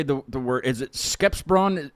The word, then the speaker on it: Skeppsbron: Is it Skepsbron? Skeppsbron.